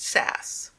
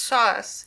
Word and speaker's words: sauce: shingle are aware that preserved fruits are in new england called sauce by the vulgar pronounced sass but when mrs simpson heard the word in england pronounced sauce she was very anxious